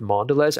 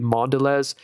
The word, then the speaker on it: Mondelez: I didn't believe it because McDonald's has a long partnership with Mondelez. Actually, that's such a cool company. The people who own Chips Ahoy, that's MDLZ, Mondelez or Mondelez, I think is how it's pronounced.